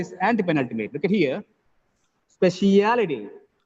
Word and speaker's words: speciality: anti-penultimate look at here speciality speciality in this word the last three syllables look at here a li t the last three syllables third from the last is stress speciality reality last three